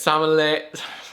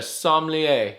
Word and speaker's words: sommelier: like a samo some uh answer like a samole how do you say that word what's that some that's what i said answer like a sommelier okay i'm gonna carefully it's very hot ah